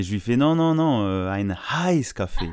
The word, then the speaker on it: heiß: Et je lui fais non, ein Heiß café. Et là, j'ai compris qu'il fallait bien le prononcer, le H.